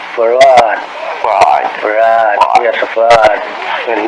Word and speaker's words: Fard: Farad, F-A-R-D. F-A-R-D. Muhammad. Mr. Fard, did you say? Well, that would be the pronunciation in English, but we in the Arabic is Farad.